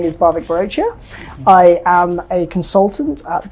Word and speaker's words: Bhavik Barochia: introduction is not enough your names are you pronounce it and and everything absolutely so hi everyone my name is barbic brochure I am a consultant at the global consultancy